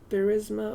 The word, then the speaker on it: Burisma: What I'm saying is, investigating the company, the Burisma company, how do you pronounce it? Burisma? Yeah, Burisma.